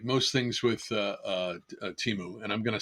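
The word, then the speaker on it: Temu: Recently on Teu or Teimu, my wife and I were calling it Teimu early on and we kind of stay with Timu even though I think I've heard the proper pron uh pronunciation being um Temo.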